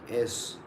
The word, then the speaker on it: subtle: B is silent. We don't pronounce the B, we don't say it like subtle.